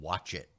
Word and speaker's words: Wochit: And even the ridiculously named ones like Cheddar and Watch It, WOCHIT. I love that name. It's so weirdly spelled, but pronounced correctly. Watch it.